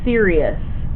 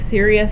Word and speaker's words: Sirius: in the night sky is called sirious s i i u s kind of like sirious satellite radio right s i r i u s now I want to